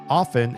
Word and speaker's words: often: And it turns out often is pronounced this way also.